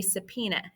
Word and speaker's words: subpoena: Congressional investigations can include a subpoena and I know that's not how that word looks but that's how it's pronounced um so a subpoena if you've been subpoena